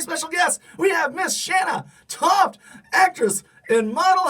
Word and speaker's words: Shanna Toft: It's actually Shanna Toft. It's just spelled a little bit differently, and almost everybody calls me Shanna or Shayna or Shannon, but it is Shanna.